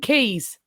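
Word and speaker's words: Caius: I know it's spelled Kais, but it is apparently Goneville and Keys.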